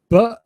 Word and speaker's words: butcher: T in it, and you don't pronounce the T, butcher. It's like a glottal stop. Butcher. I'm going to the butcher. And yeah, can you try to say it, Liliana? Butcher. That's right. You stress the first syllable or the second? The first. Butcher. Butcher. Yeah, the first.